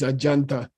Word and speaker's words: Ajanta: Tibetan is saying that this Sanskrit Jay should be pronounced like Raja means king and uh that's actually more correct so I believe this is ajanta which is the site